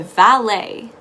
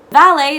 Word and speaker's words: valet: and you ask the valet valet is once again another french term which is why its pronunciation may be unfamiliar to you it's actually spelled with the t but the t is silent another rule you can